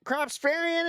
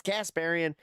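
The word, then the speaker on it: Kasparian: Cropsparian is not Cropsparian. She's Casparian.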